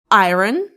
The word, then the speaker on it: iron: Is it iron? It's iron. iron. The trickiest one really. For instance, he pressed his shirt with an iron before the inner. Okay. Um, not iron or iron, it's iron. Iron.